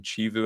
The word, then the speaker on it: Chivu: The name of the Inter Milan manager this year is it Christian Chivu I think is how it's pronounced.